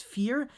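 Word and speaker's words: Vier: It's Fear. It's a German word, so don't really ask me.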